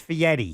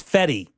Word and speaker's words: Fieri: I've heard it pronounced Fieri. It's like actually a D. If you read how he says it, it's Feddi. Yeah. It's pronounced like Feddy.